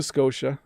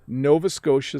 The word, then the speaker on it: Nova Scotia: a lab somewhere natalia hello bob could you pronounce the following names of the provinces of canada nova scotia new brunswick manitoba saskatchewan thanks so these are the provinces that are a little tricky to pronounce nova scotia is fairly straightforward nova scotia but the t